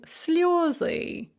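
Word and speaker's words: слёзы: But then you put it in the nominative plural and it becomes sljozy. All of a sudden the yeah falls back under stress and we discover it's really a yo, sljozy.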